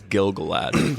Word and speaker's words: Gil-galad: I know, they kind of say it like that, but it is Gil-galad. It's Gila, not Gali.